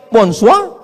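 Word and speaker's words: bonsoir: Bacanya bonjou. Bon soir, bonsa.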